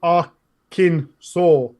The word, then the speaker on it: Arkansas: Yorkshire hey it goes on yeah the unanimous pronunciation of Arkansas by native Arkham Simpsons and in Interlopers like is Akin saw so much for adhering to the letter of